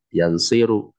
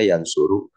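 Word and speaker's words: يَنْصُرُ: Seperti nasoro, gak boleh dibaca yansiru. Terserah mau hafal bab berapa, yang penting bacanya yansuru.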